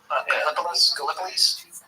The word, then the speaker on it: Gallipolis: Gallipolis?